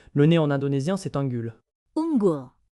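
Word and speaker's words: unggul: Ungul. Ingul étrê prononcé unul.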